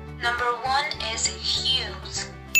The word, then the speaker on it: Hughes: is huge news okay what's that pronunciation number one is hughes first news you said what did you